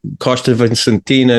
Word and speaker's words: Costa Vicentina: It's actually, Algesur is like almost bordering between Algarve and Alentejo, is the Costa Vicentina National Park, if I've pronounced that correctly.